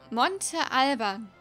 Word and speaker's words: Monte Alban: Mein Name wird wie folgt ausgesprochen. Monte Alban.